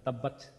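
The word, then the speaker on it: تبت: আমরা একটা সিফাত জানি সেটা হচ্ছে তা টা উচ্চারণ করার আমরা উচ্চারণ করার পর একটু বাতাসটা চালু থাকে হালকা কিছুক্ষণের জন্য বাতাসটা চালু থাকে তাব্বাত তাব্বাত মানে বাতাসটা একটু চালু থাকে তাব্বাত মানে তাব্বাত বলে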